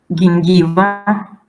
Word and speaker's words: gingiva: G, again, be careful here because it's not like J, it's G. Gingiva, gradus, gutta, geno, gravis, fragilitas, frigidus, fungus, degeneratio, angioma, angiopatia.